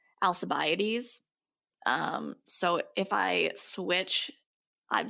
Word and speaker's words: Alcibiades: Okay, so it's pronounced a variety of ways. The Greek way is Alcibiades, but most people pronounce it Alcibiades.